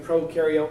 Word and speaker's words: prokaryote: sometimes have trouble remembering prokaryote versus eukaryote the one way i tell people to help remember pro rhymes with no prokaryotes have no nucleus you for eukaryotes you